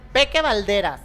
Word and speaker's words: Peke Balderas: Excelente, casi para finalizar, ¿cómo se pronuncia tu nombre? Peque Valderas.